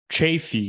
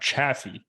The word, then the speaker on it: Chaffee: all right is that it's pronounced chafee not Chaffee that is a big